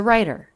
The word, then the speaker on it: writer: which is an r the w is silent in this word she's a writer she's a writer what's